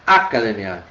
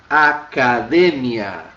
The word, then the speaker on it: academia: Também não é academia, porque também ela seria uma sobresdrúcula. Sobrou este camarada aqui como sendo a tônica. E então a gente tem academia. Tá? Em espanhol, da sílaba tônica, academia.